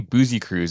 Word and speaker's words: Busekrus: It's actually Boozy Cruise, a little bit more Booze Cruise-esque than your pronunciation.